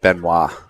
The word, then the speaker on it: Benoit: Benoit is Benoit, right? Yep. She pronounces it Benoit.